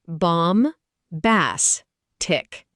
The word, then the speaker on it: bombastic: Bombastic, pronounced bomb-bass-tic.